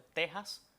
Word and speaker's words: Texas: Yasmina y es que esa X la pronunciamos como J. Hay otros dos topónimos que tienen esta misma característica y es el caso de Texas y el caso de Oaxaca. Uno en Estados Unidos y otro también en México. Y esta X suena entonces como J en esos tres topónimos arcaizantes, o sea, topónimos que en un pasado mantuvieron esa X etimológica y su pronunciación es como J.